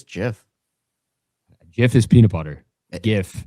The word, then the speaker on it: GIF: It's the GIF versus GIF debate, which is GIF, by the way.